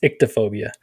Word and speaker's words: ichthyophobia: That's how I also knew you mispronounced the fish one. It's ichthyophobia. Ichthyophobia.